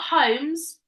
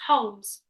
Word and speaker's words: Holmes: see it's a silent it's not homes it's Holmes it's a silent ELD